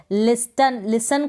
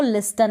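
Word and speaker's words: listen: तो कासल को कास्टल ना पढ़ें, ऑफन को ऑफ्टन ना पढ़ें, लिसन को लिस्टन ना पढ़ें। तो ये आप ध्यान रखें, इन तीनों स्पेलिंग्स में T साइलेंट है।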